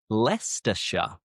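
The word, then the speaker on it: Leicestershire: England end in shia but the shy is pronounced as sha. For example, Worersha, Worersha, Glostershure, Glostershure, Leersha, Leersha, Hertfordshire, Hertfordshire, Barkshire,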